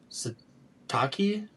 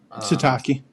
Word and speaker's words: Sitake: So they finally set their sights on Kehlani uh Satakei. I don't know if I pronounced it that right. Sitake.